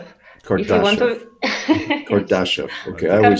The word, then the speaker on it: Kardashev: Kardashev said that, how did you pronounce Kardashev. it? Kardashev.